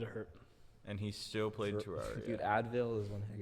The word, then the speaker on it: Terraria: Terraria no it's terrar I can 100 % confirm it's Terraria it's Tera the Greek Terra not ter terar terar okay Terraria Terra never mind not ter teria Terraria that's how we pronounce it what have we been